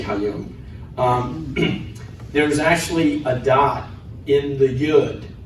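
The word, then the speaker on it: היום: Hayom.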